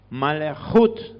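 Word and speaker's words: מלכות: Esa es la e mal jut malut se pronuncia con la J bien raspada malut esta O podría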